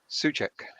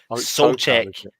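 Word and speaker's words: Souček: Pronounce his name for me. Soucek.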